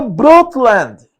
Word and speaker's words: Brundtland: O relatório Brundtland, Olha a pronúncia do teacher. Relatório Brundtland.